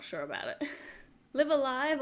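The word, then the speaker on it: Live A Live: Live Alive, or Lava Live is how the announcer pronounced it.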